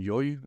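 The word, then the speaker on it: Llull: tradition, the works of Raymond Lull, Raymond Yoy, I was told the pronunciation, is that he clothes them in a different language.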